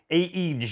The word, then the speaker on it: Aegislink: the company so i'm gonna go ahead and spell it out a-e-g-i-s-l-i-n-k aegis link and just like all my videos